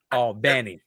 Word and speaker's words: Albany: It's on the the annunciation is on the second syllable. Al Benny.